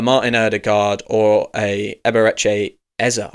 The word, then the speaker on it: Eze: We don't need a Martin Erdigard or a Eber Ezar. I should say Ezar. That's how you say his name.